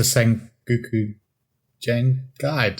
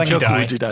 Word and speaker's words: Sengoku Jidai: Of course, yeah, it's a Sengoku Jengai. I mispronounced it. Sengoku Jidai. Jidai. That's it.